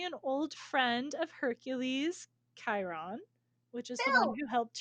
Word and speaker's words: Chiron: i see his name because it's c-h-i-r-o-n but that's not how it's pronounced it's chiron not cheer on every time i see